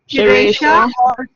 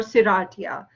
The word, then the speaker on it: Serratia: Serratia or Serratia. You could pronounce it either way.